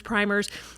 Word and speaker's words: primer: as their basis, and even some of the primers and the things that they have, some people pronounce them primers, those original books that they used to teach all contained Bible verses.